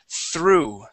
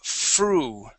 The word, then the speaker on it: through: Okay, so what you're doing here is you are pronouncing the TH like an F. Saying fru, all right? The difference is you want to put your tongue between your teeth, like that. And we say through.